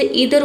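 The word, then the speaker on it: either: नीदर नीदर अब इसे ईदर को आइदर भी पढ़ते हैं और नीदर को नाइदर भी पढ़ते हैं। दोनों प्रोनंसिएशन सही है।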